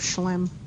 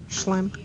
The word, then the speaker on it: Schlemm: Yeah, but they don't call it the canal of Schlemm. Oh, that's what you were looking for. No. How do you spell it? S-H-C-L-E-M. Schlemm.